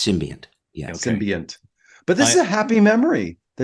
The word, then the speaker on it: symbiont: They said symbiote. That's not right. SYMBIOT. The symbiote. It's a symbiont, right?